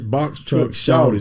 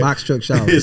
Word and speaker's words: Box Truck Shawty: And I got to say it right. It's Box Truck Shouty. So he properly saying it right. Box Truck Shouty. so when y'all looking for it, it's SHAWTY Shouty.